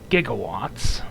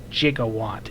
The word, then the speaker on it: gigawatt: a reference to 1.21 gigawatts from back to the future again this came out during the back to the future anniversary thing and no jiggawatt is not the proper pronunciation it's always gigawatt i have no idea